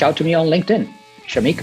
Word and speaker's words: Shamik: SHAMIK is the way he spells his first name. Shamik. Straightforward. You, my friend, are a rock star.